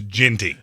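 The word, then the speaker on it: Jeanty: I'm going to eat his liver with some fava beans and a nice apparently Gianti. He's been very dogmatic that it's Ginty.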